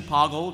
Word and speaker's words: Pogle: okay Pogle the Lesser so official pronunciation Pogle rhymes with Boggle uh number of dialogue